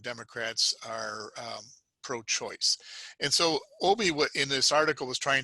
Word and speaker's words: Obey: He pronounces his name Obey.